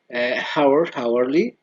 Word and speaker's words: hourly: History, historical, hourly, or the H is silent.